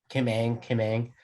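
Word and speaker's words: Kim Ng: I don't know how to pronounce her last name. Like Kim Ang. Kim Ang.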